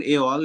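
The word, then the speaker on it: et al: এট ওটা কি অল, এক উচ্চারণ না এ অল উচ্চারণ হয়? হ্যাঁ হ্যাঁ, এটার উচ্চারণ এ অল, এটা এট অল, মানে যেভাবে আছে আমি ওইভাবে বলি, এ অল।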